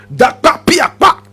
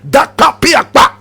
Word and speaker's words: Dakpa Piakpa: Now he got his name Jakpa from the original word Dakpa Piakpa. You want to hear it again? Dakpa Piakpa. Students, let me hear it. Say it after me. Dakpa Piakpa. Dakpa Piakpa.